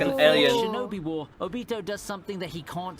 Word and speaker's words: Obito: Oh, it's pronounced Obito. I thought it would be Jubito.